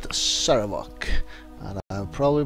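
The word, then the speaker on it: Sarevok: Alright, now I heard at least how to pronounce it, Saravok.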